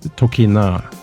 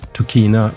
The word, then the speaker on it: Tokina: about the company and the pronunciation in Japanese is tokina so I used to say tokina but anyway tokina is